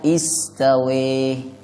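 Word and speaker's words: استوى: Istawa ada yang membaca imalah. Imalah itu harkat fathah tapi dimiringkan ke kasroh. Jadi istawa dibaca istawe.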